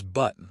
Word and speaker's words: button: The word is button like on a shirt or mountain. We don't say the t. We stop the air in our throat.